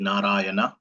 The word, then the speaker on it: Narayana: So Prabhupada says that there are 4 syllables in the word Narayana. Na, Ra, Ya, Na in Sanskrit.